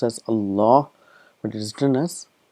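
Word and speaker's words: الله: allah it's pronounced as allah but it is written as a law the alif is omitted and this is how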